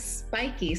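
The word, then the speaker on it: Spyki: s-p-y-k-i how do you how do you pronounce it spikey or that is spiky so that's uh short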